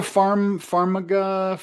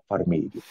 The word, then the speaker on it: Farmiga: Is it Vera Farmiga?